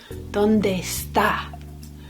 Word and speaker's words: ¿Dónde está?: ¿Dónde está? The accent's on the second part of the word. So it wouldn't be like our name, Esther. It'll be almost as if the E at the beginning isn't there.